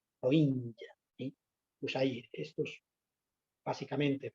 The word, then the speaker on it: Rohingya: Y también con un pueblo minoritario, un grupo étnico de Birmania, que tiene un nombre rarísimo y que se llama así, Rohingya, con pronunciación africana, Rohingya.